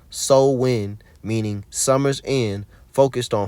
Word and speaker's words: Samhain: to November 1st when Sam Hayne so Sam Hayne was celebrated from October 31st to November 1st what what day is that that's Halloween the religious rituals of Sam hay pronounce Soul wi meaning Summer's end focused